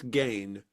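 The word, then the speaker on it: Gein: try to pronounce that, they say it's Gain. And I have never ever heard anybody say Ed Gain. I've heard I haven't either. I've heard gin and gin, but I've not heard gain. But if you go to Google and say, "How do you pronounce the name Ge I N?" It says gain.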